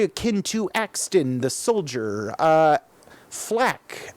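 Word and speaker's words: FL4K: to Axton the soldier flak FL 4k that's how it's spelt the Beastmaster calling more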